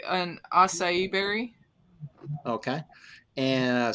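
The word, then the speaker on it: açaí: I had blackberry, blueberry, acacia. How you say that? Acai.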